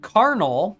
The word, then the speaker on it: Kharnal: So Carnal, and for those of you who are interested in knowing how that's spelled, it is KHARNAL.